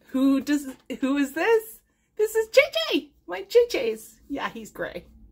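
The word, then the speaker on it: Zezé: And a rare thing, somebody spelled JJ's name right, Z-E-Z-E. So, it's the Korean version. It's pronounced the Korean version, and it's spelled the Brazilian version, and it's from My Sweet Orange Tree, I think it is.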